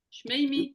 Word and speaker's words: שמימי: Shmeimi. Oui. C'est juste la prononciation que je te répète. Shmeimi. Shmimi. Voilà. Comme ça.